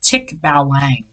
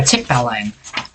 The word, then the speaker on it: Tikbalang: mad at me but i believe it's pronounced tick balang a tick balling or tip alone however you want to say it take my name